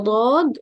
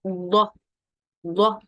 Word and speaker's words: ض: For the letter dot, it's articulated from one of the sides or edges of the tongue, and what lies opposite to it, two of the upper molars, left or right.